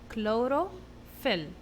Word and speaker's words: chlorophyll: leaves the green color the word chlorophyll is very easy we can divide it into three syllables okay the first one CH here make the sound C so we have C low CL then we have row clor then we we have pH that makes the sound F like